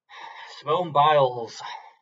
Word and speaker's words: Simone Biles: Simone Biles kind of rhymes with piles.